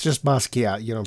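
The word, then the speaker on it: Basquiat: Watson in this movie played the title character in Germushia's film Basuat in 1996. It's just Bosat. You don't pronounce the W the U.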